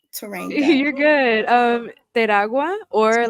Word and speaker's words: Teragua: Teragua, or like in English, if you don't want That's to not like getting roll your it. R's, Teragua.